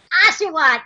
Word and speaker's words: Oshawott: little thing, and I'm going to get the name wrong. I already know it. I think it's an Oshawott. Oshawott, yes!